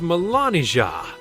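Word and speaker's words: Melanija: milania's real name is Melania it's pronounced exactly the same but spelled with the J her name was germanized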